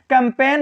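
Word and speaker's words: campaign: जैसे design कैंपेन होता है, जैसे लिखा है यहाँ देखिए यन के पहले आया है जी, तो यहाँ हमेशा जी साइलेंट रहेगा।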